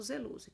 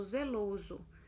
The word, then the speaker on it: zeloso: Aí depois tem aqui de azul, zeloso, né? Aparece esse O entre colchetes porque é da forma que a gente pronuncia o LO, né? Que é o O fechado.